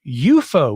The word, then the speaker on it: UFO: As it was originally intended by Ruppelt, he said it's to be pronounced UFO, which would have been an acronym.